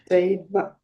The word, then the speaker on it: Deva: One point on the pronunciation of this, what we write in Roman scriptures as a V, and in English we pronounce it as a V with the lower lip against the upper teeth. Deva. But don't do it like that.